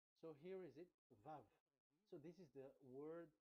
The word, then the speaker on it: Vav: So it's V as in Vogue. So it's really V. How to read Vogue? So the word, the shape Vav is really pronounced V, like Vogue. That is it, pronunciation. So here in this side, it's pronunciation. This is pronunciation. So according to the old Hebrew word today, those who the owner of the words, I mean, so it's a V. So don't change it into W, and you will say